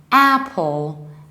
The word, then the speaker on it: Apple: as the very beginning Apple Apple this is the same kind of air that you have in abbreviation from application app Apple in American accent this